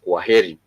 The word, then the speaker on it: kwaheri: a phrase, which is kwaheri. Kwaheri, which is K-W-A, kwaheri.